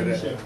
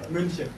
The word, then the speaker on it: München: ¿Cómo se pronuncia? München. ¿Eh? München. München.